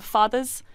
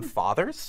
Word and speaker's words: fada: And you call them fathers? Fadas. Fadas. F-A-D-A. Yeah. Not fathers, no.